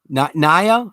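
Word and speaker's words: Niya: I thought it was pronounced like Nia Long. My bad. N-I-Y-A. Naya? Life of Naya? Do I have it correctly? Am I pronouncing it correctly?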